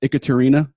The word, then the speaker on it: Ekaterina: Probably because nobody can pronounce it first go. It's Ekaterina.